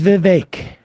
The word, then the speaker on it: Vivek: all saying free Thugger my name is Vivek it rhymes with cake uh I think we